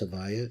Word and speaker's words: Havaya: And he says like this: let us focus on the holy name of God, which we pronounce Havaya. It's the Hebrew letters Yud Ke Vav Ke.